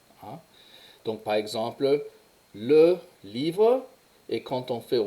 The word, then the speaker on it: livres: Il y a quelquefois des terminaisons qui se prononcent différemment, mais en général, le S à la fin ne se prononce pas. Donc, livre, livre.